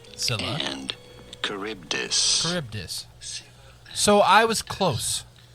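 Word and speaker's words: Charybdis: as well but how do you go about pronouncing these two Sila and caribdis caribdis so I was close okay are we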